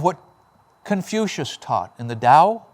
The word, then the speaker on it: Dao: It's the crux of what Confucious taught in the Dao, Tao, Dao, how it's pronounced.